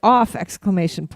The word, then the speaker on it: OFF!: No, you just say off. I don't think you. We saw the band Off. We saw them Off. I don't think the exclamation point is.